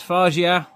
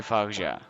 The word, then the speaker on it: Fargeat: how to pronounce it. Hang on. Gilles Aldesson. Coralie Fargeat. I was right. It's Fargeat. Coralie Fargeat.